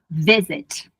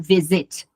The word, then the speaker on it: visit: Porém, a sílaba tônica é visit. Não é a do sanduíche de vogal. Eu não falo visit, eu falo visit, certo?